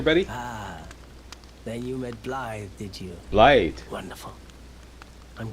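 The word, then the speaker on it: Blaidd: for two reasons one is to ask about blade that's a funny name okay how do you pronounce his name there buddy ah then you met blythe did you light wonderful i'm glad i pointed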